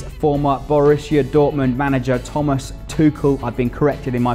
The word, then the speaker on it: Tuchel: and that is former Borussia Dortmund manager Thomas Tuchel. I've been corrected in my pronunciation, but he's still very much an attractive proposition for the Saints.